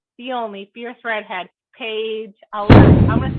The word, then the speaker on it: Allert: But that's not actually how you say it, you guys. Here, you say it just because I feel like you're still going to say it better than me. It's Allert. See, it's so close, though.